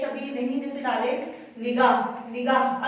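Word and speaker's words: نگاہ: अब देखिए निगाह, नगाह नहीं होता, नुगाह नहीं होता, पेश की आवाज नुगाह होंठों को गोल करते हुए और जबर की आवाज अलिफ की तरफ ऊपर जाती है, नगाह नहीं पढ़ा जाएगा, तो इसकी क्या आएगी जेर आएगा, निगाह, नीचे आवाज आएगी नी गा, तो नीचे की तरफ जा रही है नी, जेर की आवाज नीचे की तरफ को जाती है तो निगाह गा, और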